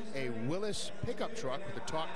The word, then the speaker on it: Willys: I mean, just to be perfectly technically correct, Willys is how the company referred to itself, although so many people call it Willys, myself included, really.